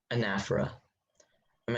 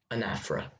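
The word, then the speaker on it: anaphora: he mailed his letter anaf am I saying it correctly yes anaf okay may I have the part of speech it is a noun okay anafa anafa a n a p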